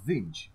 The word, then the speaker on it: Tzeentch: And the final, my personal favorite of the Chaos God, is Tzeentch. It's spelled Tzeench.